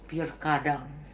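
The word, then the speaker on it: Pierre Cardin: Lalu saya ada tulisannya PK Cardin, bacanya P kadang.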